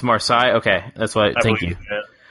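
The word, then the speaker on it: Marseille: for I don't know how to say it pronounce the name I guess it's a French or side it's marsai okay that's why thank you so five fingers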